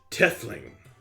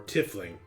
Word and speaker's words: tiefling: i've earned them called tieflings yes that is the more commonly common name yes north they pronounce it tethling you know i was north once really or tiffling did he say he's